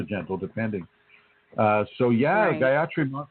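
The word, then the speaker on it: Gayatri: Uh so yeah, Guyatri is wonderful and and that's spelled G A Y A T R I.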